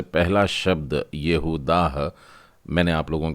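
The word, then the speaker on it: יהודה: आ जाता है, यानी पहला अक्षर य की बजाय ये होगा, तो यहूदा।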